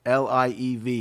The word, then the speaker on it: Liev: her partner of 11 years, the actor Schreiber, L-I-E-V.